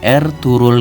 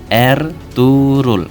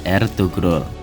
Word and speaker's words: Ertuğrul: Nama beliau tidak dibaca dengan ejaan Ertuğrul Gazi, tapi Ertuğrul Gazi. Huruf G yang bertopi dalam bahasa Turki tidak dibaca, namun hanya sedikit menambah panjang huruf sebelumnya. Bacaannya adalah Ertuğrul, bukan Ertugrul.